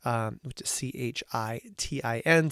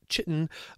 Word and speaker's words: chitin: made up of a specific term called chitin CH itin sometimes you'll see it pronounced chitin but I prefer chitin as the pronunciation and